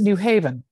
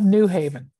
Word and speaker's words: New Haven: I pronounce it New Haven, yeah, not New Haven.